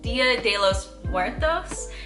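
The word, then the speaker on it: Día de los Muertos: Dia de los Muertos is how you pronounce it.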